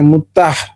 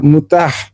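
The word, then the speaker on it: متعة: তারা এটাকে চমৎকার করে মুতাহ আসলে উচ্চারণটা হচ্ছে মুতা না মুতাহ এই মুতাহ বিবাহটা করে তো এটার মূল কারণটা ফারাবি কেন এটা সমালোচনা করল?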